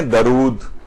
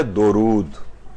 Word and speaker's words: درود: ہوتے جاتے ہیں۔ اچھا، ایک تو پروناؤنسیشن کی جو غلطی ہے تلفظ کی، لوگ اسے پڑھتے ہیں درود، اور اردو میں بھی استعمال ہوتا ہے کہ بھئی دم درود، آپ نے سنا ہوگا، تو یہ درود نہیں ہے بلکہ ہے درود۔ دال کے اوپر زبر